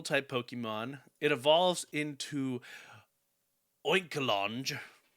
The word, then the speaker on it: Oinkologne: It evolves into Oinkologne. Oinkologne? Cologne? Oinkalone? I think it's Oinkalone. I don't know. Is that the Spider-Ham version of Home Alone?